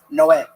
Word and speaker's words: Noé: Spanish translation, it's Noe is Noah, but it's pronounced Noé.